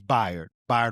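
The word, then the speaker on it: Bayard: When you think of his name, think by like bisexual. It's spelled like bae, like like the bae, but it's by Rustin.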